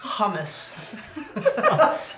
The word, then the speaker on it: hummus: Rather, hummus. The authentic pronunciation.